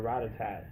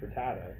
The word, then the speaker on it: Rattata: such a long time like I use just call retired or attacked or Ratatat I used to call that obviously pronounced Rattata is on t at the end I mean but something